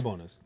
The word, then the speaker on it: Sabonis: Sabonis.